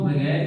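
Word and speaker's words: بے: इसके बाद बे, इसको हम बारीक पढ़ेंगे और हल्का सा खींच कर पढ़ेंगे बे। ब भी आप हिंदी में कह सकते हैं।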